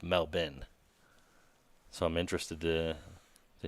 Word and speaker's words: Melbourne: let me know because obviously Melbourne Australia is pronounced melbin so I'm interested to